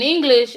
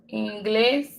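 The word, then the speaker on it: inglés: English. English. Oops. See what I just did? English. I'm so used to putting English. In Spanish, the E sound is the what we know is the letter I.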